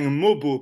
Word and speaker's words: Mogbo: bayor en numéro 19 ils ont repêché Jonathan mobo parce qu'on a appris qu'il fallait pas prononcer le G euh je me rappelle plus